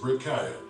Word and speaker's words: breccia: Researchers in Yellowstone's hydrothermal areas have noted that when you disturb the bleach white broken up, or what geologists would call breccia, pronounced breccia, siliceous center surfaces, underneath there can be a thin layer of deep dark green due to the presence of photosynthetic pigments.